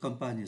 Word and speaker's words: campagne: là ký tự N viết là em mà phát âm như là n là comp và bài